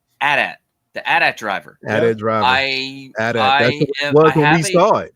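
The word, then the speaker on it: Adam Driver: it is Canon uh George Lucas said this is how you pronounce it Adat the Adat driver driver I we saw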